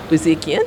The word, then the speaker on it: Buzikian: And Nicholas Buzikian, I hope I said that right.